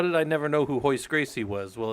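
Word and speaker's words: Royce Gracie: if you don't know in Brazil they don't do the the the RS or H's so like a Roy is actually like a hoist is how they say it so if you ever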